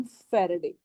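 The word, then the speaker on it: Faraday: इसको हम प्रोनाउंस करते हैं एज वन फैराडे।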